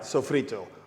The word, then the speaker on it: sofrito: Yes, I said it right, sofrito. Don't get confused, it's not an Italian word, it's a Spanish word.